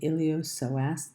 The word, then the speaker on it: iliopsoas: The next muscle, which most students don't know anything about, is called the iliopsoas. The P is silent.